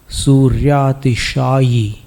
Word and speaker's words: सूर्यातिशायी: नास्तंक अंक नास्तं कदाचिदुपयासेन राहुगम्यः स्पष्टीकरोषि सहसा युगपज्जगन्ति नाम्भोधरोदरनिरुद्ध महाप्रभावः सूर्यातिशायी नहीं बोलना, यी बोलना, यी सूर्यातिशायी महिमासि मुनीन्द्र लोके नास्तं कदाचिदुपयासि न राहुगम्यः स्पष्टीकरोषि सहसा युगपज्जगन्ति नाम्भोधरोदरनिरुद्ध महाप्रभावः सूर्यातिशायी महिमासि मुनीन्द्रलोके।